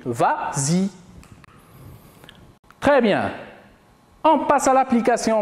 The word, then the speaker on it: vas-y: ça la vraie conjugaison mais comme il est suivi en prenant on ajoute le s pour faciliter la prononciation on dit vas-y très bien en passant